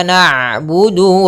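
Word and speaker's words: نعبد: Maka iyyaka na'budu wa iya. Tapi nanya tipis. Jangan na na enggak tapi tipis.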